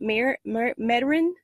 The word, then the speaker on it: Metairie: She's in Louisiana, Metairie, that's how you say it.